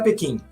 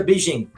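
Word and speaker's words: Beijing: da cidade não é Pequim o nome da cidade é beijim né então tem tem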